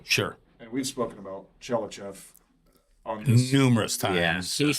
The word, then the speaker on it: Tchelistcheff: Chellachaf.